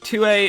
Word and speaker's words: Thue: named axel tua and yes 2a is pronounced differently from tua because the manual says so so basically 2a is